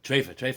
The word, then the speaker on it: treifa: What's Think about Taifa? that. What's Taifa? Treifa, he's Oh, saying. treifa. Treifa. The proper Yiddish pronunciation.